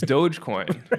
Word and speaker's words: Dogecoin: it doesn't do anything it's called by the way it's Dogecoin that's you know I'm the pronounce it right yeah yeah I think I don't know how he pronounced it on a text maybe he even spelled it doggy coin um but this